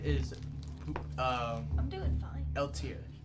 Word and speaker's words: Eiltir: Eltier. Spell that. EILTIR. With a EILTIR. silent I. So LTR. Is a. He's a human? Spell his name again. EILTIR. But the I is silent, so it's just LTR.